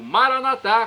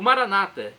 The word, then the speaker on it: Maranata: a Maicon Eu Clamo Maranata como dizemos nosso católicos com a tônica na última sílaba o Maranata com a tônica na penúltima sílaba como dizem nosso irmão separados os evangélicos ou protestantes não importa pronúncia o significado é o mesmo vinde Senhor Jesus vem